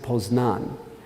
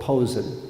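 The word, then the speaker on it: Poznań: I'll use an analogy if you're polish you pronounce it posed none if you're German you called Posen that was the city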